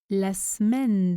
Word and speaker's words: semaine: La semaine dernière se prononce la semaine dernière. Je ne prononce pas le E de semaine.